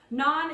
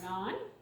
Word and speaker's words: naan: are going to put that down here not non is spelled n a a n and it is